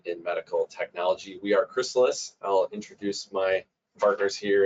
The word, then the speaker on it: Chrysalis: And some people might be trying to figure out how to pronounce our name. Is it Chrysalis or Chrysalis or Chrysalis? It's Chrysalis.